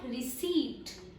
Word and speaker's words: receipt: So guys, this word is not receipt. It is correctly pronounced as RECEET. It's receipt.